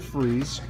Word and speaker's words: Fries: freeze you can't go wrong with Victor freeze although it's spelled fries I've spoken what is